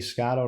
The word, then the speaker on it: Scotto: on twitter at scotto that's m-i-k-e-a-s-c-o-t-t-o pronounced like a lotto um check out my